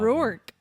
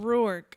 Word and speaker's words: Rourke: Rourke, apparently it's pronounced. That's what I was just showing you that the pronunciation is r o o What is it? it uh wrong. Rourke.